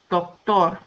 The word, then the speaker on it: doctor: The second rule says words ending in a consonant that is not N or S have the stress on the last syllable. Doctor, tor, español, felicidad, bronceador, musical.